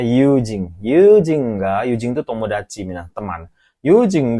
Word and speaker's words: 友人: Jadi, yujing ini bacanya yujing.